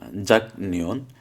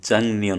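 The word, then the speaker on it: 작년: জাক নিয়ন, জিউতা গিয়ক জাক, নিয়ন নিয়ন নিয়ন নিয়ন, জাক নিয়ন। এটা এই যে গিয়কের পরে নিয়ন আসার কারণে এই গিয়কটার উচ্চারণ হয়ে যাবে তখন অনুস্বার। তাহলে জাক নিয়ন না হবে, জাং নিয়ন হবে।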